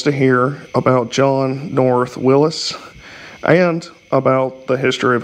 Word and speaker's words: Willys: i've read john north willis would have pronounced his name willis even though it's spelled w-i-l-l-y-s so people will say willie's he apparently pronounced it